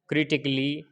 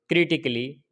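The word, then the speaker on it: critically: For example जैसे रोमांटिकली, क्रिटिकली, फिजिकली, म्यूजिकली, इसके अंदर डबल एल वाई से पहले ए आया है, ये साइलेंट है। रोमांटिकली पढ़ेंगे इसको, क्रिटिकली, फिजिकली, म्यूजिकली।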